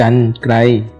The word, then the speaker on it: กรรไกร: ไม่ มี ตัว สะกด ให้ อ่าน ออก เสียง ว่า อัน นั้น เช่น คำ ว่า กรรไกร อ่าน ว่า กรรไกร ข้อ ที่ 2 เมื่อ